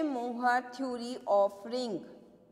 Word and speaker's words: Mohr: तो बेटा आपके जो नेक्स्ट हम टॉपिक करते हैं आपके सिलेबस के अकॉर्डिंग, सेशे मोहर थ्योरी ऑफ रिंग। तो सभी हेडिंग डालो, सेशे मोहर थ्योरी ऑफ रिंग। मैं स्पेलिंग बता देती हूँ, सेशे की स्पेलिंग है